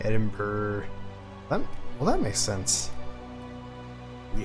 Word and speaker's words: Edinburgh: Yeah, it looks like you would just say Edinburgh, but it's Edinburgh. Edinburgh.